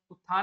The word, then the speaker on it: उत्थान: ठीक है, तो देखो पढ़ते क्या है हम लोग, उत्थान पढ़ते हैं, सही वर्ड, उत्थान में उत्थान आता है, ता का वहां पर हल्का सा प्रोनाउंसिएशन होता है, जो कि आपके ऑप्शन नंबर बी में दिया गया है।